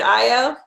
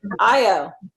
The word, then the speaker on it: Ayo: Is it Io? That's right. That's Io right. Yeah, Yeah. oh, I just get nervous. I don't want to ever mispronounce someone's name.